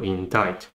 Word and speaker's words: indict: silent c here so C is not pronounced in this word in time so there's just the exception of the phonogram in diet this one is true exception so indict so what I do